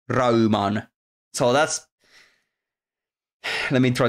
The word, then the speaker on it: Rayman: being helpful here yes because Rayman turns into like raan and that's if you if you didn't know anything about engl English and you were to just pronounce Rayman in in a complete finished way it would be raan so that's let me